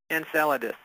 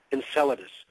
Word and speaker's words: Enceladus: you said in and how do you pronounce that Enceladus Enceladus Enceladus I even pronounce it wrong okay well things yeah